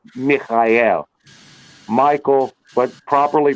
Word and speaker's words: Michael: and the help of the Archangel M Mikel Michael but properly pronounced Mikel and it works it does and and and